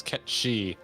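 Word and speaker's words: Cait Sith: rabon sean bean and kate sith is a gaelic word pronounced in the language as que she yeah i'm just not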